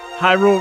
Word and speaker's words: Hyrule: Hyrule rhymes with pie. Well, not quite.